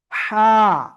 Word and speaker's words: ح: হা। গলা চেপে উচ্চারণ করব।